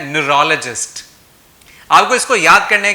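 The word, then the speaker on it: neurologist: बहुत सारे लोग इसको न्यूरोलॉजिस्ट बोलते हैं लेकिन इसकी राइट प्रोनाउंसिएशन है न्यूरोलॉजिस्ट।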